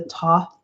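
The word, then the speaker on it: Thoth: here i use the top deck it's pronounced top it's t-h-o-t-h i think i like it because it has a silent h just like me uh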